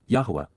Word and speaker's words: Yahowah: Yahweh Yahwa the proper pronunciation of the name of Eloha God as directed in